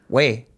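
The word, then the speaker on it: güey: Okay, this one I'm having trouble pronouncing, but it's spelled G, then it's got a U with the weird thing, E-Y. Way.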